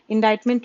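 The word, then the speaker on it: indictment: इंडाइटमेंट, ये देखो इसका प्रोनाउंसिएशन ध्यान से देखो, इसको पढ़ते हैं इंडाइटमेंट means something that shows a policy system society is बैड और रॉन्ग।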